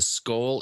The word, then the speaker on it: Scole: One of our posters, Kanakaris, is it asking about your take on the skull experiment, SCOLE. I'm not sure if I'm pronouncing it correctly. Yeah, that's correct.